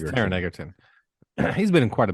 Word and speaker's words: Taron Egerton: I think it's Taron Egerton. I think that's how you say his name. I just like the last name Egerton. Oh yeah, Taron. I think it's Taron. Taron. Yeah, it's Egerton. Taron Egerton.